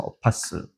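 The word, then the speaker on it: apostle: 자, 근데 영어로는 어파스라고 하죠. T가 묵음으로 돼서 어파스.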